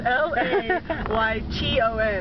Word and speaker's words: Layton: If you notice, Utahns don't pronounce their T's in some things. Like, Layton is spelled spelled L-A-Y-T-O-N, and we say Layton.